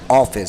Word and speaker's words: Hafiz: But of course, you see down there, and someone corrected me, they said it's pronounced more like Office, so...